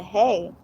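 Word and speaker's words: ה: the line over it, or it's pronounced hey in Hebrew.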